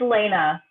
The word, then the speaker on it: Elena: it please help me it's elena seriously that's length yeah there's accents over the ease they go like this elena okay gotcha well doesn't